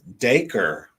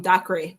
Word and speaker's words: Dacre: And we pronounce his name Dacre. Yes. I always wanted to call him Docre, but I did. Well, I'd say one call him Docre too, but it's Yep.